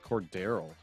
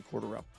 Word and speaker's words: Cordarrelle: I've been saying Cordero. No, it's actually Cordarrelle.